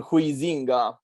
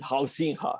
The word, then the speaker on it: Huizinga: It's written Huizinga, but they pronounce it Huizinga, something like that.